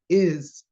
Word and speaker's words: is: is did you know if you're pronouncing you should put it as Z at the end is but an episode in